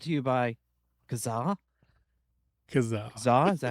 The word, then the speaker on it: Kazaa: Because Kazaa, is that how you say it?